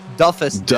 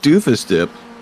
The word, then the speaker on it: Duffus Dip: That's Duffus Dip. Duffus Dip. Yeah, I keep wanting to call it Doofus Dip.